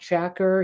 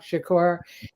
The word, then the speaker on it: Shakur: the name of Tupac Shaker he couldn't even pronounce his name um Tupac Shakur um and you need